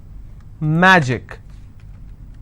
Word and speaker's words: magic: will stress on track magic i will stress on ma picnic i will stress